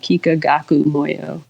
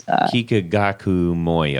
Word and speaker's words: Kikagaku Moyo: So I always say, if you're a pedal person, go check out Kikagaku Moyo. It's, Kikagaku Moyo. it's Kikagaku, and then second word Moyo.